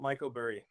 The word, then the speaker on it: Mykoburi: I call it Mykoburi.